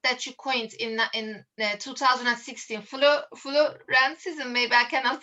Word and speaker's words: florescencism: about the concept that you coined in 2016, florescencism. Maybe I cannot pronounce it. Yes, So could you it's correct, florescencism, yes.